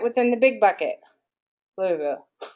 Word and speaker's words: Louisville: Give me a city that's outside of Louisville. Is it Louisville or Louisville?